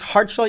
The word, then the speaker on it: Kharchla: translation so and so it's hardshell you don't say the k is that right yeah okay heartla